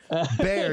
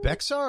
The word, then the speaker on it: Bexar: It's pronounced Bexar County. Bear, yes. Sorry. It's okay. No worries. It's one of those. My wife was like, "It's not Bexar." I was like, "No.